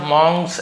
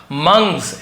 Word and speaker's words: monks: इसे बहुत सारे मक्स ऐसे पढ़ते हैं। बट एक्चुअल में ग मंग्स ऐसे उच्चारण होता है। बट आप मंग बोल देंगे तो भी चलेगा।